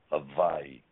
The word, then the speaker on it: Hawaii: But when what happened here, they wrote it as a W, but it's still pronounced Hawaii with the V sound.